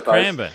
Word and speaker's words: Cranbourne: as a golf club so I say cran bur sorry cran I pronunciations like like like the Yanks say Melbourne we say Melbourne okay yeah okay so it's cranber okay y I hate